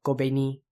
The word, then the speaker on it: Kobeni: Not really sure what's up with that, so Kobeni. All those are short syllables, so put together it's Higashiyama Kobeni.